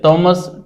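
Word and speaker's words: Thomas: एक ही बात है ये अंग्रेजी के वर्णों को पढ़ने का बस थोड़ा जो है उच्चारण करने का तरीका अलग है इसलिए टॉमस और थॉमस हो जाता है ठीक है हिंदी भाषा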